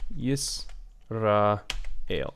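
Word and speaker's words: ישראל: Yisrael, Israel, Israel. Okay, so the consonant break comes in English in the same place that it comes in Hebrew, yis, right?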